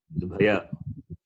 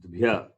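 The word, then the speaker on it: द्व्य: If you write like this, its pronunciation is Dvaya. But it is not Dvaya, it is Dvya.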